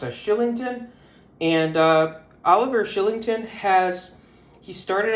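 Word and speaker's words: Kylington: The Calgary Flames would use their 2015 60th overall selection on defenseman Oliver, believe it or not, his last name is pronounced as Shillington.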